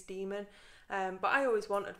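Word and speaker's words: daemon: IRA so it was dae'mar but I think the correct pronunciation is demon and but I always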